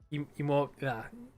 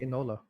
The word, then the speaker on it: Enola: Now I'm actually kind of piquing my interest to watch emo. Yeah, can't even say it right. Emo Holmes. Yeah. I think Enola.